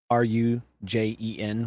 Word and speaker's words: Rugen: What you know about species 11041 is they call themselves the Rugen. Rujen would be the best way to pronounce it.